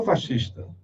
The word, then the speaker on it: fascista: Porque se eu sou fascista, mas a pronúncia é essa, tá? Fascista. A minha filha diz: pai, não fala fascista, que vão falar da tua idade. Não é conhecimento, é porque vem do italiano.